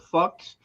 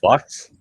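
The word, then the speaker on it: Fuhs: It's called Fucks, but it's a church supply house, like candles and stuff, but it's F-U-H-S, but it's pronounced fuck. F-U-H-S. Yep. And it's pronounced fucks?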